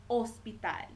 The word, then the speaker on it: hospital: you wanted to say Hospital you will say ospital even though it begins with Ace is silent okay let's see um hota hota in